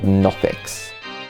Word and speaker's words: Nothic: Okay, so these sound like creatures called Nothics. That with a silent G? No. Nothic.